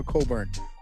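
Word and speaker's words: Cockburn: I don't want to I don't want to say his name the way it's spelled oh spelled c c k b RN and his name is somehow Coburn okay yeah so here's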